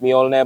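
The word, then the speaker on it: Mjölnir: And of course, the signature Thor's hammer headlight, which is pronounced Mjolnir, by the way, for those who weren't sure.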